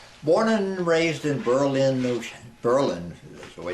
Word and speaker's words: Berlin: Born and raised in Berlin, Berlin is the way it's pronounced, New Hampshire, of French-Canadian heritage.